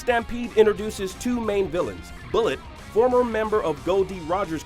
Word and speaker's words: Bullet: introduces two main villains bullet former member of Goldie Rogers crew whose name is pronounced like mullet in the dub because well he has an enormous mullet and the mystery mastermind